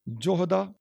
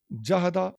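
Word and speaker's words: جهد: جوہد کا لفظ ہے، اس کے اوپر آپ اعراب دیکھیں کیسے پڑھیں گے، جوہدا، جہدا اور جہدو اور جوہدو، ٹھیک ہے جی، یہ سارے اس کے تلفظ ہیں۔ جوہد جو ہے فرشتے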